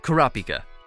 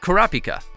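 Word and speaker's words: Kurapika: hika became Pika but in Japanese H is sometimes changed to P when combined with other words as it makes the pronunciation easier imagine if his name is kurahika instead of karapika karapika just sounds better right Kura or dark refers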